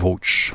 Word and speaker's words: VOGE: Insofern sagen wir den offiziellen Namen Woge. So wird es ausgesprochen, also Englisch.